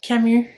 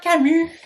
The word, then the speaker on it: Camus: It'll be my first time reading Albert Camus. Camus. Tous les noms français, on doit les prononcer en français. Albert Camus.